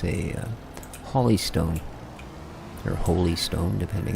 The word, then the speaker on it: Holy Stone: a hly stone or holy Stone depending how you want to pronounce it I guess it is actually holy Stone when he considers h o l y not LL y so uh yeah that